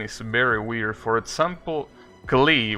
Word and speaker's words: Klee: very weird for example klee which is this character apparently in japanese is pronounced clay well technically kure but i mean i